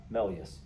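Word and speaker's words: Méliès: melus which is pronounced here this is your pronunciation key melus this 2011 movie portray him as an as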